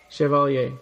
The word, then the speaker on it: Chevalier: yeah yeah so um how do we pronounce your last name Chevalier Chev chaler Chevalier okay yeah all right yeah cuz we were